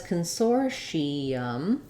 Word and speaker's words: consortium: and then uh if you say it as Consortium with four syllables the letters t I say the sh